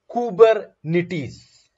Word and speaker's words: Kubernetes: and number one thing it is being pronounced as kubernetes kubernetes right it's a it's a greek word which means husband that